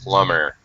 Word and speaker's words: plumber: but very good a plumber good job not pronouncing the b i i yeah good